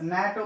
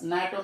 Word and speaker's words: NATO: Abbreviation, but pronounced as a word. We have to take only sound. And dash NATO member. Dash NATO member.